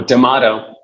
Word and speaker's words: Damato: Oh, Damato. Tomato. Right. Okay. Damato. Damato. So it's like tomato, but Damato. Yeah, Damato. Well, welcome back to this second episode of HIT Conversations with Dr. Damato.